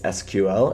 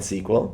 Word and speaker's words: SQL: that's sql or sql it's pronounced both ways you'll hear me and others pronounce it both ways sql and sql mean the same thing